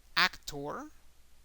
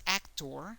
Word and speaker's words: actor: exactly the same because in English is actor however in Spanish is actor okay actor so the emphasis is in the last syllable in Spanish it's always